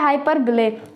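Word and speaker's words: hyperbole: Type, जो कि है हाइपरबोल। अब देखिए कुछ लोग इसकी प्रोनाउंसिएशन गलत बोलते हैं, हाइपरबोल बोलते हैं, बट इट्स नॉट हाइपरबोल, इसकी सही प्रोनाउंसिएशन है हाइपरबिले, हाइपरबिले। ओके, तो इट्स नॉट हाइपरबोल, इट्स हाइपरबिले।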